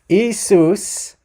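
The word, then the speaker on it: Ἰησοῦς: can't be more wrong so isus isus um is the Greek pronunciation we're going to get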